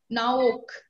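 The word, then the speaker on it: Noach: The meaning of Noah is comfort, and it is pronounced as Naok.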